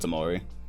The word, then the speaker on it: Tamari: What's good, Tamari? It's funny, I called you Timar that whole time until Tyrese actually pronounced your whole name.